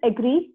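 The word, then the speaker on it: ager: But Latin में अगर देखें तो एग्री को हम यूज वर्ड करते हैं एगर, and next is कल्चरा. Latin word में इसको इस तरह से प्रोनाउंस किया जाता है.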